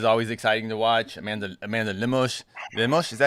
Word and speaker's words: Lemos: Amanda Lemos, is that how you say it? Is that what we're saying? Lemos, yeah.